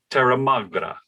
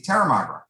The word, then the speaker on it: Terramagra: And then, so, ladies and gentlemen, this is Terramagra. Uh-huh. Did I do it right? That's it. You see, you butchered it, but that's okay. It's very easy. Terramagra.